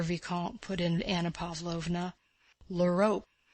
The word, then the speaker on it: l'Europe: Ah, my dear Vicomte, put in Anna Pávlovna, l'Europe. For some reason she called it Europe, as if that were a specially refined French pronunciation which she could allow herself when conversing with a Frenchman.